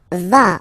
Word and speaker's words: vas: Tu vas. Final S doesn't exist.